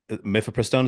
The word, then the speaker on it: mifepristone: I just kind of assumed that they invented mifepristone. Is that how you pronounce it?